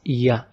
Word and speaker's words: ي: Our last letter in the alphabets is ya. It's like how we pronounce Y letter in English in any word, like yawn.